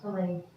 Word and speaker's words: fillet: That's pronounced fillet. That's a French word, fillets.